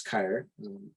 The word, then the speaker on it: Kyer: As I mentioned earlier, my name is Kyer. It's pronounced like fire with a K, and I am the project coordinator here at Plan Institute.